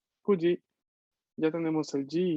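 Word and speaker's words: 九時: kuji. En contexto de hora cambia su pronunciación de Q a Q.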